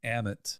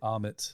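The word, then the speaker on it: Ammit: Anyway, so that's why I always think of the wrong thing, but it's Amit. Amit.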